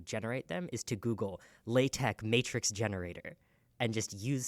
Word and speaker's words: LaTeX: my job is using LaTeX. Latex? LaTeX, although it is spelled L-A-T-E-X.